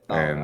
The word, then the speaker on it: Zara: Zara or Zara. I don't know how you're supposed to pronounce it. It's Thara.